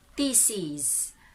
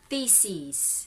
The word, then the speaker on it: theses: the word thesis thesis but if you're going to pluralize that word it has to be read theses theses if it's singular thesis next is ego ego